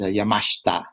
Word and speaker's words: Yamashita: well, the actual Japanese pronunciation is Yamashita, but Mashita.